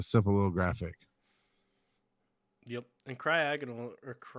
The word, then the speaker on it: Cryogonal: So again, the second syllable is the emphasis there.